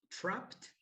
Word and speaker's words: trapped: very good remember this one this one we pronounce it trapped trapped no when you finish with evie after